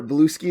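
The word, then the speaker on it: Bluesky: I am I am once again out and about, um, I've been using Blue Sky or Blue Ski as I usually pronounce it because it's one word um, a lot lately and so you can follow me there at.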